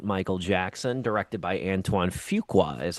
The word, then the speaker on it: Fuqua: The brand new biopic on the late Michael Jackson directed by Antoine Fugqua is how you say his name.